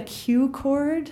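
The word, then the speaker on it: Q-Chord: How do you spell it? It's called a Q chord.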